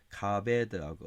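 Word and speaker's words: כבד: 나온다 그랬죠 동사가 하자크하고 카베드하고 어제 어제 카베도 나왔는데 카바드 발음 카베다 카베드 형용사도 카베드고요 자 그래서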